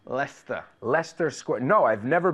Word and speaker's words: Leicester: Leicester, right? Leicester. Leicester Square. No, I've never been to Leicester Square.